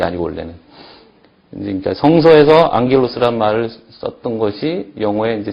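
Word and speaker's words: ἄγγελος: 카파키 네개의 자음 앞에 감마가 왔을 경우에는 영어처럼 발음을 합니다 그래서 앙겔로스 있죠 이게 이제 엔젤입니다 천사 성소에 나오는 말이죠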